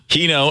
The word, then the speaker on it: Hino: do you say that name yeah it's heo heno and Sam shedler all uh locally based uh